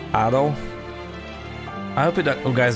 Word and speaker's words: Adol: the the first playthrough i keep saying edo but i think it's pronounced addo i hope that you